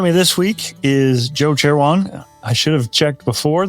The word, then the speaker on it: Cherewan: Joining me this week is Joe Cherewan. I should have checked before that I had that pronunciation correct.